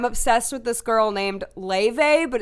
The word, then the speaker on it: Laufey: I'm obsessed with this girl named Laufey, but it's spelled Laufey.